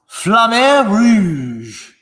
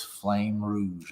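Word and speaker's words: flamme rouge: i remember i bought flammable is the way i pronounce it but i know it's actually having been told by people who live much closer to france than i do it is flame rouge or flowers flame ruse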